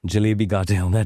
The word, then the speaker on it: Jalebi Cartel: So, um Tell me about Jalebi Cartel, if that's the correct pronunciation. Yeah, Jalebi Cartel.